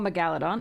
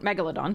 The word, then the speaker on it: megalodon: All right, we have cautious survivor dagger megaladon. Megalodon, sorry, I always pronounce it that way. All right, megalodon is correct.